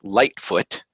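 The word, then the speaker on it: Lightefoot: halfling Rogue named eufemia Lightfoot and light is spelled with an E so light e foot but the E is silent and my character is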